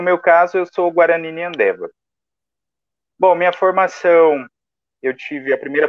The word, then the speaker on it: Nhandewa: Então, como a professora já disse, o meu nome, né, é Nhandeva, a pronúncia está correta.